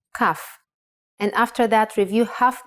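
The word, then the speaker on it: כף: Kaf actually is only pronounced like K when it has a dot inside. Just like Bet only has the B sound when it has this dot. Without the dot, it sounds like Ch. Chaf.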